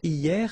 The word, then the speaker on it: hier: Hier means yesterday, okay? Hier. So remember, this H here is not pronounced, okay? So hier.